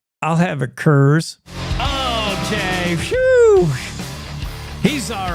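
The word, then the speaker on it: Coors: say, "I'll have a curse." Okay, he's all right. That's the cowboy cocktail right there. Get yourself a curse and say it like that. It's not course. It's curves.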